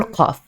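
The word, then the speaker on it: قاف: of the roof of your mouth, and then pronounce the Q sound, and it's going to be very similar to the qaf.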